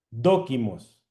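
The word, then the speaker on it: δόκιμος: Doquimos con un acento en la o. Doquimos significa aprobado. Y adivine dónde está. Dóquimos.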